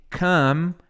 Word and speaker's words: come: E o M no inglês tem que fechar a boca, ó. Come. Não é come, não é can.